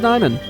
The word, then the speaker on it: Nyman: Oh, my name that everybody mispronounces at least once when they first meet me. The name's Nyman. That's how I go by on the internet. So, that's how you say it.